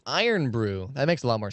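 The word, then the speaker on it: Irn Bru: It's pronounced Iron Brew.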